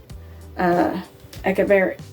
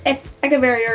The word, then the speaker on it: Echeveria: And they're actually named after a Mexican botanist artist, Echeveria, or Echeveria, or Echeveria, whichever way you prefer to pronounce them. I've always pronounced them Echeverias, but I've heard many people pronounce them as Echeverias.